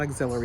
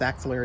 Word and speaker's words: axillary: Axillary, am I pronouncing that right? It's not axillary, it's axillary lymph nodes.